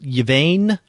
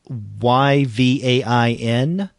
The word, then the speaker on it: Yvain: This is, I guess you pronounce it Yvain, Yvain.